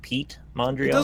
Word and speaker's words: Piet Mondrian: ironic he's being here I've been saying his first name wrong this whole time it's piet mondrian matter he's French over here we say Pete or whatever you can say whatever you want whatever it's not call